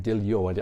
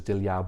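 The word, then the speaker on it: Diljá: She pronounces her name Diljo. I thought it was Dilja, but apparently that A with a line is like O.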